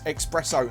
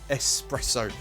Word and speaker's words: espresso: flow i always say i always pronounce this x expresso and i'm really sorry i know it bugs a lot of you but i do try espresso espresso i don't know why